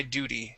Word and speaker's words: duty: duty my duty yeah so that t that t will be pronounced like a d sound we say do d